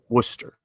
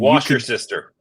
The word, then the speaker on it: Worcester: Did I pronounce it right? Worcester. Okay. Worcester. Because the flight attendant who was making the announcement murdered it. And wash your sister.